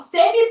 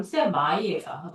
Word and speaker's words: semi: 저 사람 세미 프로래 이렇게 얘기하잖아. 프로의 세미 반 정도라는 뜻이죠. 그러니까 프로 전 단계라는 뜻인데 이게 영어로 정확한 발음 세마이예요.